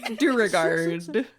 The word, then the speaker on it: Duergar: Ryan Keely's bespoke pronunciation, which rhymes with Beauregard. It's got one of them. What's the opposite of a silent letter? Just extra syllables put in there. Yeah. You gotta add that zazz. It's got an implied D at the end. Do regard.